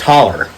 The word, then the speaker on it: holler: steel runners it was the steepest hollow in our small community or as we pronounced it in appalachia stand the steepest holler appalachia stand it's the